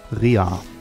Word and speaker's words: Rea: Der schreibt sich aber lustigerweise nicht mit AE, so wie man sich denkt, oder mit AY, sondern mit EA. Wird trotzdem ja. Ray ausgesprochen. Rea.